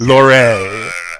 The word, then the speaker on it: Lorre: German pronunciation, the proper pronunciation is Lore.